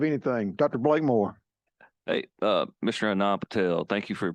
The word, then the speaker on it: Anand: Tell me once again, Anand, is that how you say it? Yes, Anand.